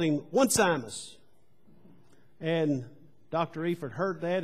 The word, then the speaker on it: Onesimus: He said, Onesimus. He said, no. He said, at Duke, we use the correct pronunciation. And he said, you need to understand that his name is Onesimus.